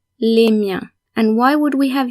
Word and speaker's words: miens: Remember that the final S is silent, so for example, mien in du mien or des miens is pronounced exactly the same.